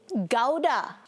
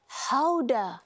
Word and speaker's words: Gouda: The word Gouda itself.